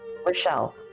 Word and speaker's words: Rischel: And I always say it's like Michelle, but with an R. So nailed it. Mm. Rochelle, you got it.